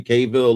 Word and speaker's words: Cavill: fill the role that Henry Caville left or caval uh depending on your pronunciation um but I I